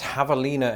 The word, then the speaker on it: javelina: teeth removed oh yes javelina and it's very important that you do pronounce it the spanish way lest you confuse it